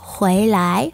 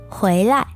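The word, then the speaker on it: 回来: lái hoặc khuấy lại trong sách người ta viết là khuấy lại chỗ này là thanh nhẹ Nhưng bạn cũng hoàn toàn có thể phát âm là khuấy lái là hai thằng thanh hai nha nó là động từ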